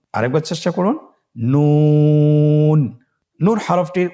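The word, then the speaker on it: نون: নুন হরফটি উচ্চারণের ক্ষেত্রে অবশ্যই পাতলা করে উচ্চারণ করতে হবে এবং তিন আলিফ টেনে পড়তে হবে। আপনারা আমার সাথে বলুন ন আরেকবার চেষ্টা করুন। নুন নূর হরফটির উচ্চারণ স্থান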